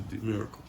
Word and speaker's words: Demyracle: It's like the D silent, kind of, because that E. Like, they say it so fast, you know what I mean? But it's D-Miracle. If you really want to pronounce it.